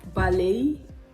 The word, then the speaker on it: ballet: silent in the words ballet crochet sachet beret you see the t ends all of these words but it is silent absolutely dead so deaden